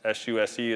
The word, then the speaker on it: SUSE: It's S-U-S-E, it's pronounced SUSE.